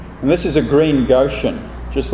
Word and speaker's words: Goshen: But you don't want to stay in Goshen too long, because it rhymes with go soon.